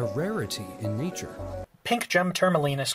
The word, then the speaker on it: tourmaline: few places number four pure malign is a gemstone that is classified as being semi-rare and comes in a wide variety of colors the correct pronunciation is tourmaline excellent there it